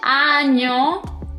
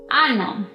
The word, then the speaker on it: año: como una nño dicen ano. Y bueno, ano significa or, así que estoy segura que no quieres cometer esos errores. Lañe tiene un sonido muy nasal.